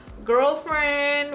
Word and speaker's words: GRLFRND: Just for the fun of it, I'm gonna go in with this shade called Girlfriend with GRL. It's spelled GRLFRND.